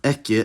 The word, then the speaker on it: ekki: This survived into Icelandic with the same spelling, pronounced ekki, as well as Danish ige and Norwegian ikke.